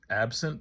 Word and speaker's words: ABCNT: artwork um I think the artist is absent is how you pronounce it but it's basically a b c n t and I'll go